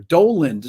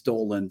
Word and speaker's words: Dowland: Dowland Dances, it was called, or Doland. Some people say the pronunciation is Doland. So, but I always called them John Dowland.